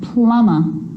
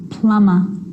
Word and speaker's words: plumber: It's always silent when it follows the letter M. Climb, crumb, lamb, thumb, dumb, and plumber. So practice them with me. I'm not pronouncing the B, I'm just pronouncing the M consonant sound.